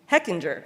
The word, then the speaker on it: Hechinger: Hechinger, okay, all right.